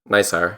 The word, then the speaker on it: NISAR: NISAR. Is that how we're pronouncing this?